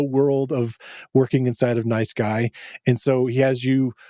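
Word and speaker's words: NiceGUI: and I pronounced it nice gooey, kind of emphasizing the GUI of the graphical user interface of it. But supposedly they would like it pronounced as guy.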